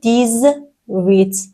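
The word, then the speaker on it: dix-huit: ۱۷ گفتیم دیس ست توی ۱۸ گفتیم دیز وت صدای ز شنیده میشه دیز وت دیز ن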